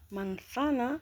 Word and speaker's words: manzana: مانثانا كتكتب بسيطة ولكن كتنطق بحال الثا. مانثانا. أريد كيلو من التفاح. أريد كيلو من التفاح. كيلو un kilo de manzana.